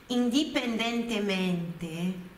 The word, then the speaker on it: indipendentemente: Indipendentemente, indipendentemente, no italiano, olha a pronúncia. Indipendentemente. O di não é como a gente diz, né?